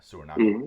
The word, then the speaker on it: Suriname: But no, actually, it does take place in South America, in Suriname.